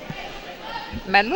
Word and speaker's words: Malmö: Malmö ou Malmo? How do you pronounce that? Malmö. C'est un O ouvert.